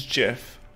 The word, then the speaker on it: GIF: It's Jeff. How do you pronounce gift? How do you pronounce giraffe?